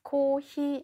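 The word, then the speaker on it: コーヒー: 드렸었는데 기억나세요 자 그러면 커피는 뭐라고 하냐 코 다음에 장음 시 다음의 장 응 코 5c 이렇게 발음을 하시면 되는데 여러분 아이스커피 는 아이스 코 히 이렇게 되겠죠 아이스커피 주세요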